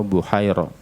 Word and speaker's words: Buhaira: dengan Buhairo, Bahiro atau Buhairo. Kalau setelah ro itu adalah alif mamdudah, alif yang memanjang, maka bacanya Bahiro. Tapi kalau alifnya memendek atau istilah Jawa kita alif bengkong, maka membacanya Buhairo. Kedua-duanya juga benar.